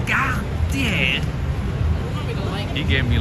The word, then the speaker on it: Cartier: He goes, "Cartier, you have to say it right. It's a French brand. You have to say it correctly. It's not Cartier, it's Ga tier."